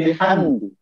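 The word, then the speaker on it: بِحَمْدِ: Ayat ketiga ada bunyi bihamdi. Bihamdi itu, maka cara membacanya bibir dengan terang, hamdi.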